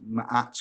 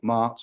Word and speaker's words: Ma'at: he gave birth to Ma'at, M-A-apostrophe-A-T, that's Ma'at or Mart or something similar to pronunciation.